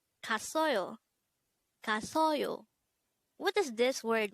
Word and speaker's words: 갔어요: study about the word gasseoyo. Let's start. Learn Korean one word at a time only here at Dae-Hangul. Word number 260. Gasseoyo, gasseoyo. This is pronounced as a three-syllable word.